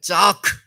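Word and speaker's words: צעק: 부르짖는 기도는 자크라고 히브리어로 말합니다. 한번 따라해 보실 거예요. 자크. 자크. 아, 이게 욕이 아닙니다. 발음이 좀 특이하죠? 자크.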